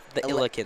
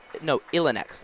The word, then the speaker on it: Illineks: How do you pronounce the Illikens? Illikens? Illineks.